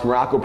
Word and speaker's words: Maroko: I am Coach Maroko, pronounced just like the country, spelled completely, entirely, and totally nothing like it.